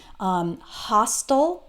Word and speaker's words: hostile: So this is the case for words like hostile.